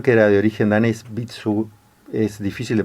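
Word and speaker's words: Vitsœ: era de origen danés bitsu es difícil de pronunciar se escribe v y tsv parece que se pronuncia bitsun que estaba asociado con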